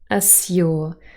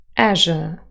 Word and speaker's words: azure: sky without any clouds as your assure this is RP but with yacht coalescence azure azure and our last and